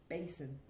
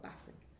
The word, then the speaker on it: basin: a small sink but we say basin not bathing basin basin i washed my